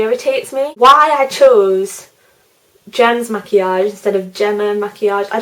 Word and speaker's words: Maquillage: My YouTube username is pronounced Gem's Maquillage. People always like pronounce it in different ways and stuff. Maquillage is basically the French word for makeup, so that is why I chose that.